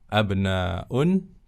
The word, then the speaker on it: أبناء: Perhatikan ibnun dengan hamzah wasal, jamaknya abna'un dengan hamzah qata, ya. Jadi hamzahnya di sini bukan wasal. Ya, kalau wasal dibacanya sittatuba, tapi ini bukan hamzah wasal. Bentuk tunggalnya hamzah wasal, bentuk jamaknya hamzah qata di sini ya. Harus dilafalkan.